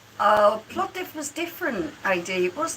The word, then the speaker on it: Plovdiv: Let's Google it, shall we? Plovdiv. Plovdiv, I was right.